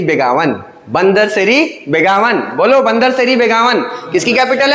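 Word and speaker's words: Bandar Seri Begawan: बंदर तेरी बेगाना। मतलब बंदर सेरी बेगावन।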